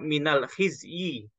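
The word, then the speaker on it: من الخزي: Minal khizyi, ini bacanya minal khizyi.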